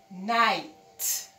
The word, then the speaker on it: night: So when you're calling the word, you start from the N. Night. Don't make the sound for K, because N is there.